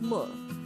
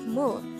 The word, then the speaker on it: 물: koreans cold water as mo and this is considered a noun mole is composed of just one syllable which is formed from the combination of the sounds of mium uh and real and with that you